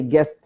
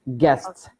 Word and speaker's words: guests: of pronunciation this word so we do not say guests is its guests one word guests guests guests yes